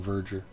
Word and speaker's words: Verger: than hannibal lecter himself could be pronounced mason verger forget how they pronounced it in the movie i think we're going